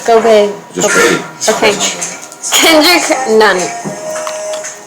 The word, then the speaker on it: Gobert: Rudy Gobert. Did I say it wrong? Gobert.